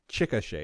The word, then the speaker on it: Chickasha: Coleman in Chickasha, Oklahoma, which I know it's said it that way because he wrote Chickasha, pronounced Chickasha.